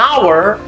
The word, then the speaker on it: hour: dia bacanya huruf hidup an hour Hnya hilang jadi cara bacanya itu huruf hidup maka dia pakai bukan